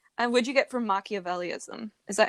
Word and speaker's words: Machiavellianism: much since february and what'd you get from machiavelliaism is that how you say it machiavellianism yeah let's explain what that is manipulated manipulate